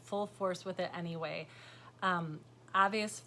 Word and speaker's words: Aves: Aves Fiberworks, AVES, is the correct way to say the company name. I was calling it Aves, and I knew it was wrong, and I just went with it.